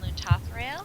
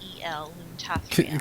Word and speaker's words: Loon Tothrail: Bless Loon Tathrael. Loon, like you're saying moon, but Loon Tothrael.